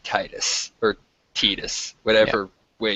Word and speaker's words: Tidus: I don't like Titus, or Titus, Yeah. whatever way you want to pronounce it. Uh-huh. I think it's supposed to be Titus, Yeah, it's Tidus.